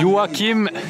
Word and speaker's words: Joachim: Joachim.